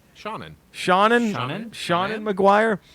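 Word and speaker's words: Seanan: It's Sean, S-E-A-N, but with another A-N. Shannon.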